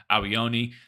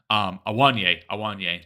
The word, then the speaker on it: Awoniyi: Whoever let Rashford be the last man, and Rashford absolutely getting beaten off the ball like that by Awoniyi. Awoniyi, that's his name. Totally said it wrong.